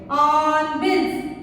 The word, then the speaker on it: hornbills: On bills. Hornbills. On bills. Hornbills. On bills. Here also we should silent the H because H is before the vowel.